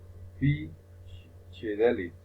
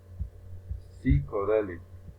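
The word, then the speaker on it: psychedelic: For example, this P is a consonant and it's incorrect the pronunciation P chidelit is not correct, it's psychodelit.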